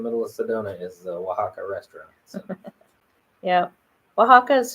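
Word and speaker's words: Oaxaca: H sound like Waka the x is an H sound so it's Waka or Mexico um because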